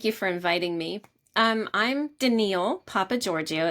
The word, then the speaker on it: Danielle: I'm Danielle Papagiorgio. It's spelled like Danielle, pronounced Danielle.